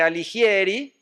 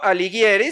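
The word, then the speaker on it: Alighieri: Me refiero, por supuesto, a la comedia, también conocida como divina comedia de Dante Aligieri o aliguieri, según se pronuncie la g ligera o liguera.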